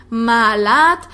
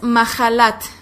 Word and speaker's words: Mahalat: a mahalat mahalat bueno nosotros lo tenemos en nuestras Biblias con una H lo que algunos pronunciaría malat o algú unos otros pronunciaría mahalat pero en realidad el nombre es mahalat Okay mahalat que significa